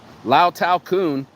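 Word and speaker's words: แล้วแต่คุณ: Lao Tao Kun.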